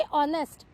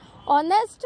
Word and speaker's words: honest: जैसे अब आप बोलोगे ऑनेस्ट, है ना, ऑनेस्ट में एच से स्पेलिंग शुरू होती है, HONEST, लेकिन वो ओ प्रोनाउंस होता है, तो इसीलिए वहां पे एन लगाया जाता है।